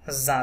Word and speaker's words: cousin: je o u joue avec leur cousin leur is silent leur cousin cousin single s zo sound cousin dans le jardin